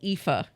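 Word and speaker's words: Aoife: So in Gaelic, which is the Irish tongue, it's called Epha and it's spelled A O I F E.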